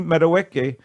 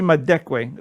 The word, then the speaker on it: Madekwe: dad and newcomer Archie meadoweke my deckway I'm so sorry I was going to give you credit for pronouncing it correctly no Archie madekwe there's a missing consonant I'm sorry Mark I